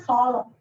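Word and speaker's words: solemn: और एक वर्ड है सॉलम. एम के बाद जब भी आना होता है साइलेंट रहता है सॉल्व.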